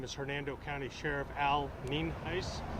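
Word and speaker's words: Nienhuis: again my name is Hernando County Sheriff Al Neen ice spelled n-i-e-n-h-u-i-s and it's pronounced neenheis uh we're here out at cheever Road in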